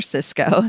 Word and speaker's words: Sysco: as aware of and it's Cisco but not the tech company it's the other Cisco the one that's neg CED and that um is spelled Sy YCO um versus the other